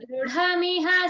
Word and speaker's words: दृढमिह: Take the effort to say thur dr, dr, make it dr, then thur dr, thur dr.